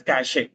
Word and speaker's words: cache: concept called browser caching see this is read as cache if you have any if you come across any new word if you don't know the pronunciation if you are not sure about the pronunciation just Google search that word followed by pronunciation okay and click on this speaker Sy that is read as cash right you see the